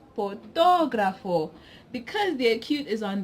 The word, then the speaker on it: fotógrafo: take the word this word it will be pronounced fotógrafo because the acute is on the oath we